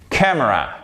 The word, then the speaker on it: camera: Faut bien faire ces diphtongues que vous retrouvez dans hello, old, et c'est pas camera. Vous avez un accent tonique qui va jusque sur le M. Camera, camera, ok?